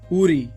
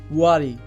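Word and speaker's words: worry: উচ্চারণ হবে education education উরি এটি ভুল উচ্চারণ এর সঠিক উচ্চারণটি হবে ওয়ারি ওয়ারি ডে এটি ভুল উচ্চারণ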